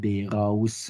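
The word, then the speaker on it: באר אברהם: Note the Western Ashkenazic pronunciations, Melamed Lehawil and Beiraus and not Beirois Avrohom.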